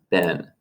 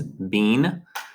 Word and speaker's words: been: and then we have ben and american pronunciation is ben british english is bean and then we have